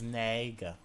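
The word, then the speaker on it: Nega: Everyone's like, it's not Eggman Nigga. I'm just like, hello? Like, you gotta chill. That's how I pronounce it, I guess. I don't know. But people are like, it's Naga.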